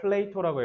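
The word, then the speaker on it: Plato: 의해서요 이게 누구냐면이 플레이트 발음을 플레이토라고 해요 플레이를 플레이로라고 하면 플라톤이란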